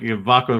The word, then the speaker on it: Vako: I was just like, "Vako rhyming with taco."